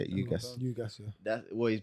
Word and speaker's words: Ugas: I saw today Spence and Ugas. Is that how you say it? Ugas.